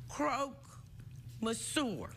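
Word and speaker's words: croque-monsieur: name which go and it's called Croak mour did I say it right absolutely good so actually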